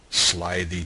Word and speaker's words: slithy: me: how to pronounce slithy toves. The I in slithy is long, as in writhe, and toves is pronounced so as to rhyme with groves.